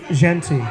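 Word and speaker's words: Jeanty: It is Ashton Genty.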